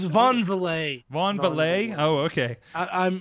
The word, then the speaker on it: Van Vliet: So I think It is Von Valet.